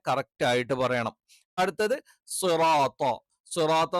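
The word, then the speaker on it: صِرَاطَ: സിറാത്ത നമ്മൾ പറഞ്ഞു സ്വി തെറ്റാണ്. അറബിയിൽ അങ്ങനത്തെ ഉച്ചാരണങ്ങളില്ല. സ്വി എന്ന് പറയുമ്പോൾ സ് വി. അപ്പൊ 2 ലക്ഷരം വരും. അതിൽ തന്നെ സ എന്നുള്ള ഉച്ചാരണം തെറ്റാണ്. കാരണം സായല്ല, ഇതെന്താണ്? സ്വായാണ്.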